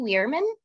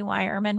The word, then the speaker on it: Yerman: be here great uh Heidi weirman yeah I'm Heidi yerman rhymes with firemen uh the division director